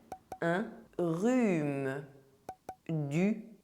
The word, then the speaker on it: rhume: #8 - The letter H is silent in French There is no aspiration! Un rhume A cold Du thé Some tea But the letters PH together make the sound [f].